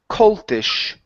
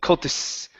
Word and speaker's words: coltish: And your last one here is coltish. Okay, so this is an SH sound at the end.